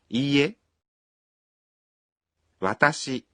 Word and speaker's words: いいえ: When you say いいえ, you pronounce I one beat longer. いいえ私 Is I.